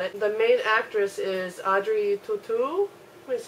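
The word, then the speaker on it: Audrey Tautou: getting closer at it the main actress is Audrey tutu is how it's pronounced she was also in the D Vinci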